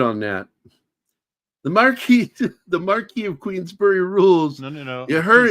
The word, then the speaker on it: Marquis: the Marquis of Queensbury it's the Marquee but yeah no I know how the French pronounce it but the the Irishman here I think he calls him the mar Queens we learned to say Marquee but here's the funny